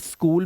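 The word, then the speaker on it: school: यहां पर लिखा है स्कीम स्कीम में एच साइलेंट स्कूल में एच साइलेंट व्हाट व्हेन वयर वेदर वाइल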